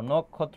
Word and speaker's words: নক্ষত্র: দেখো এটার উচ্চারণটা হবে নখ যেখানে থামে এবং কোন কার মানে কার থাকে না সেখানে হস চিহ্ন বসে তাহলে ক এর নিচে